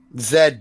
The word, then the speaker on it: Z: Zed, you guys would say Zed. Once you get the Zed, you better take it to bed. Yeah, we say it like Zed. Zed. Yeah. Z. We say Z in the US.